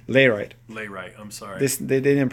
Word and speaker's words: Layrite: Do you recommend Laurite? Layrite. Layrite, I'm sorry. They didn't pronounce it. Okay. They write it right. Okay. You probably meant Layrite. L-A-Y-R-I. I do actually recommend Layrite.